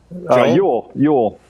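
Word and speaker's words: Jól: It's just pronounced Joel, though. Yule.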